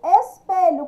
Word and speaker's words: espelho: E espelho, espelho, qual que é mais forte? É o P. Então, é a do meio aqui, paroxítona, número 2.